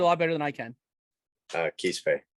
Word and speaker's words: Quispe: Quispe. Quispe.